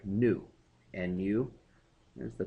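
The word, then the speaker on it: ν: second and that's represented by the Greek letter new nuu there's the pronunciation and it's kind of a fancy V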